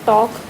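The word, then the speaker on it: talk: ऐसे ही ये बोला look at the word टॉक।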